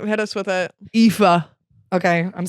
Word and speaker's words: Aoife: AOIFE. AOIFE. And that is pronounced Aoife.